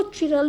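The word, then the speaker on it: chiral: कोई इसको चिरल भी बोल देता है, कोई इसे कायरल भी बोल देता है, both the pronunciations are correct. कायरल carbon क्या होते हैं?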